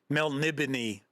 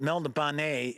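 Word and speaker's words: Melniboné: pronounce it I understand it's supposed to be Mel nibon is the correct pronunciation but I've pronounced it Mel banet and so is all of my friends for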